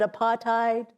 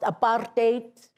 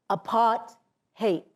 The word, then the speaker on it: apartheid: people here pronounce it apartheid and it sounds nice but it's actually pronounced apartate and it describes itself apart hate if you keep people